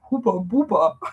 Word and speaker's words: Hubba Bubba: The bubblegum Hubba Bubba in Germany we say Huber Buber. So I love these different pronunciation.